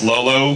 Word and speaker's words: L0L0: Just to be clear, it's pronounced Lolo, but it's actually L0L0, because it's really difficult to